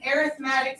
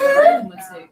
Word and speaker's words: arithmetic: No, arithmetic. That's arithmetic. Okay, so Alicia's already started. That says arithmetic, not arithmetic. I said the same thing. Okay, don't ask me why they pronounce it arithmetic, but they do.